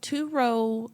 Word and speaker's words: Turo: is turo for so turo I say it like like it's another word Toro Toro t r o